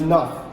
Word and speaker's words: enough: to the other ones we have tough and enough yes these two right they are perfect right because they share